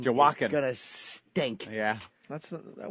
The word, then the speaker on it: Joaquin: Oh, Joaquin. Anybody with a silent J in the beginning of their name Joaquin.